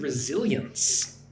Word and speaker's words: resilience: Number 8, look at the word resilience. Resilience. So it's 3 syllables.